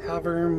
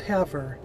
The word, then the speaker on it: Havre: getting pretty close to having montana that's how the conductor said it so although you know come on if you're going to call it haver h-a-v-e-r not h-a-v-r-e there's no err it's re come on folks rant over